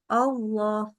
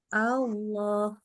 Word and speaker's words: Allah: a a Allah tapi karena ketemunya Huruf lamnya tebal bacanya jadi gini Allah Allah itu enggak boleh jadi buka mulut dulu A dulu Allah jadi Allahu Akbar Ya bukan Allah jadi enggak boleh O ya tapi a nah itu